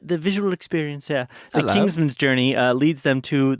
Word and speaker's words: Kingsman: reading today Kingsman like pronounce it like an e n and not an a n the Kings kingsman's Kingsman Kingsman not Kings